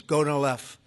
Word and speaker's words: Gonal-F: So it's Gonal-F. Is that a proper pronunciation? Very Close well enough, done. right? Very well done. Gonal-F.